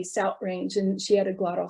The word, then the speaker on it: South Range: the in the u.p people will sometimes substitute that glottal stop for a tu for what we call the voiceless th like in the word south and for example i have a friend who lived near south range and she would say south range and she had